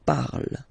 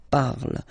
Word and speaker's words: parle: The first person, like je here, so you will put this parle again, so remember, and after that you just put the ending e. And then the way to pronounce it is je parle, parle. So remember, we put it, okay, but then we don't really pronounce it.